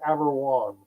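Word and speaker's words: Averoigne: name is it's pronounced Aberwan. Aberan. Okay. That is not modern French. It is medieval French.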